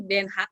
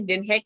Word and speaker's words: Den Haag: Oh, kita biasanya bacanya Den Haag, tapi sebenarnya bacanya Den Haag ya.